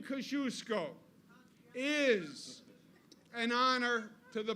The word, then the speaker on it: Kosciuszko: But now that I know better, the name Kosciuszko is an honor to the Polish American people and the Polish community, and it should be. And the name Kosciuszko says something else that is very timely today,